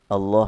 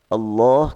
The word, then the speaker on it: Allah: Dalam bahasa Arab pun Allah kalau setelah fathah, setelah dhammah dibaca tebal. Kalau setelah kasrah dibaca tipis.